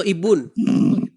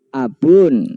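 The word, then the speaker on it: أبٌ: Abun atau Ibun? Abun. Oke. Huruf depannya apa? Alif enggak? Alif enggak? Alif sama dengan Ibrahim sama. Alif. Anu tanda bacanya apa? Tanda bacanya i atau a? A. Tanda bacanya fathah. Kenapa? Ya A berarti kan? Iya. Oke. Berarti kalau saya katakan ib berarti salah. Betul enggak? Yang benar ab.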